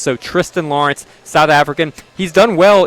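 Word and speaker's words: Thriston Lawrence: And then, uh, Tristan Lawrence, 90 to1, a South African. He has an H. It's spelled Thristan.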